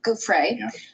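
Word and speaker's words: Giuffre: Gouffre.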